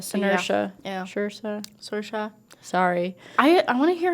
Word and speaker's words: Saoirse: You said Saoirse? it was you said it was like inertia. So inertia. Yeah. Saoirse.